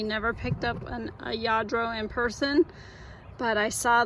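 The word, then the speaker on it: Lladró: how to pronounce it yadro I think it is I think the L's are silent usually they make like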